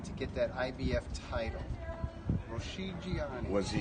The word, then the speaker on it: Rocchigiani: Roscigiani. Was he How do you say it? Rocky Johnny? Rocchigiani.